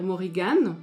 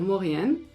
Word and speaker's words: Morrígan: En ancien irlandais, on va dire Morrigan, donc on va prononcer le G comme dans Lug. En irlandais moderne, on ne va pas le prononcer, on va dire Morrigan, comme dans Lou.